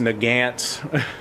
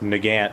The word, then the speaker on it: Nagant: I didn't care that I mispronounced Nagant.